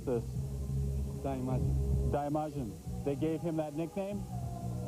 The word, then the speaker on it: Daimajin: In the Seattle paper, it talked about, how do you pronounce this? Daimajin. Daimajin.